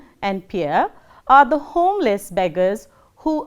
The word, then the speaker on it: Pierre: The next one is Pierre, which is pronounced as Pierre, as in we say deer.